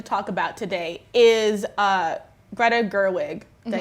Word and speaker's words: Gerwig: The big thing that we wanted to talk about today is Greta Gerwig.